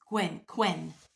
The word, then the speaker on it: Qwen: Qwen. I call it Gwen, but it's Qwen.